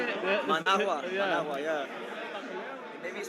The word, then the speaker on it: Managua: Managua.